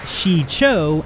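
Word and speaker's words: Shii-Cho: get into later so first we have what can be pronounced as Shi Chao an Chacho in Japanese we have an almost direct translation the number four in the language is pronounced Shi but again like with the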